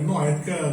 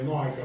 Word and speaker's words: noaica: que é o Noé, noética não, é noaica, para mim, essa pronúncia, tá?